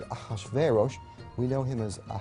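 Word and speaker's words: Ahasuerus: native language is shayarsha that was hard for the jews to pronounce so they said ahashverosh we know him as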